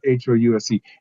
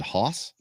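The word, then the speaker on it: Haus: house capital h-a-u-s not h-o-u-s-e h-a-u-s it's german it's house haas is it hoss no it's got to be house it's how they they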